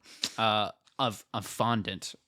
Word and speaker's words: fondant: Uh of of fondant. Or if you're a snob, font. I don't that's not how it's pronounced. I think I swear on my life I know people who pronounce it fondant.